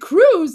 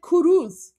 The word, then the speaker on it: Cruz: He's He's He's saying Ted Cruz. Like, he's not he's not butchering the name. He's literally saying Ted Cruz. He's just adding an extra syllable. He's just saying Ted Kurus.